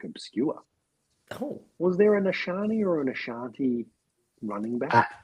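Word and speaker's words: Achane: I've got Achan and Rico the King Daddle against New Orleans. If you're going to say his name, say it correctly. It's Ashani. We've already established this.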